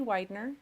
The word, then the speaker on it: Weidner: My name is Widener. It's spelled AMYWEIDNER.